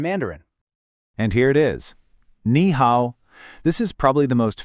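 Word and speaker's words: 你好: Ni hao.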